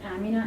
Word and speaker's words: Amina: and she was Amna so I always emphasize that it's Amina and not Amna it's really the same